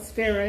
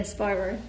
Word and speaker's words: Spyro: Not spiro. Spyro.